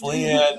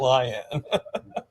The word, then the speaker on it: Lian: It's Leanne, not Lion.